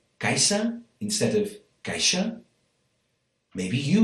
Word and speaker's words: caixa: a word like coix, in Spanish, cojo, or caixa, in Spanish, caja. Around Barcelona, these words are pronounced basically the way that I just pronounced them, because that's where I learned Catalan. So, coix and caixa.